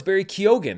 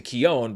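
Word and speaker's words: Barry Keoghan: recent interview where he says actually no it's Barry Keogan I just say it differently than everyone else in Ireland so I had corrected my what I thought was my mispronunciation of Barry Keogan to Keon but now it's back to kyogen and then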